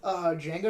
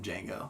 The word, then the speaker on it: Django: you know the original Django was in Django yeah yeah that's great great scene the D is silent I know I know